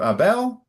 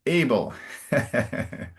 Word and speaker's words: Abel: So remember often the emphasis on the English version is closer to the front. So instead of Abel, it's able.